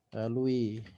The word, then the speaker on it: Louis: ya kekuasaan raja Louis jadi tulisannya Louis Tapi bacanya lalui ya Nah seperti itu